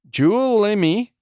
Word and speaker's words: Juulimi: Juulimi, Jule is pronounced like Yule. Imi is pronounced like Imi.